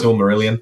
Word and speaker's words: Silmarillion: talk about, but I think I'll try and pronounce it correctly, Silmarillion or something along the lines. Silmarillion.